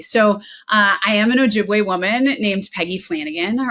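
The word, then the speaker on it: Ojibwe: of the White Earth Nation and specifically the Ojiway tribe. Is that how you pronounce it?" Yeah, Ojiway. Yep. Ojiway.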